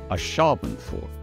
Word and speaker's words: Ashabenford: This is the capital of Mistledale in the Dale Lands, a Shaban fort. So four syllables, emphasis on the second, there's a pattern here.